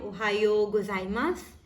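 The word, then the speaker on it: おはようございます: ओहायो गोजाइमास को किस तरह से प्रोनाउंस करते हैं, ओहायो गोजाइमास, ओहायो।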